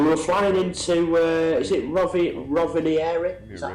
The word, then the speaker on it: Rovaniemi: We were flying into, is it Rovaniemi? Is that how you say it? Yeah, Are we Rovaniemi.